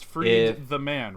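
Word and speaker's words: Freedman: is my name yes am i pronouncing your last name okay I'm not sure if ever I've actually asked you that it's free the man right yes my my ancestors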